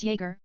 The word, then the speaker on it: Jäger: Jäger is pronounced as Jäger, Jäger, and that means hunter in German.